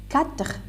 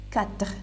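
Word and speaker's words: quatre: Now, 4, 4, E is silent, which is at the end.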